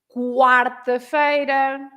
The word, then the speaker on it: quarta-feira: with a QUO, but if you have a QUA and you have lots of them, then you pronounce the U. Like, for example, in quatro, quarta-feira, quanto, etc. Right?